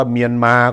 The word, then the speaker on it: เมียนมา: 2 คำ ก็ แล้ว กัน จะ บอก ว่า เมียน มา ก็ ได้ ต้อง มานะ ถ้า อัน นั่น อยาก